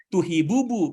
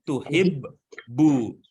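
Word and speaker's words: تُحِبُّ: Bukan tuhibubu kan? Iya. Ya, gitu kan cara membacanya ya kan? Betul, Pak. Iya, bacanya bukan tuhibubu, tapi tuhibbu. Nah, kan gitu. Yang pertama sukun, yang kedua baru berbunyi gitu.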